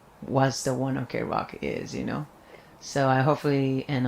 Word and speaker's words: ONE OK ROCK: I thought it was 1 o'clock rock, like 1 o'clock. そうそうそうそうそう。 Oh, 1 OK rock. だけど、when he says it in English, it's actually pronounced one o'clock in Japanese, but he pronounced it in English. He said like one OK rock.